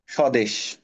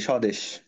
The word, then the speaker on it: স্বদেশ: স্বদেশ। বফলা যখন শব্দের শুরুতে থাকে তখন সেটার উচ্চারণ হয় না বা সাইলেন্ট থাকে সেটার উচ্চারণ এখানে পাবা এই যে স্বদেশ এবং এটার ইংরেজিতে কি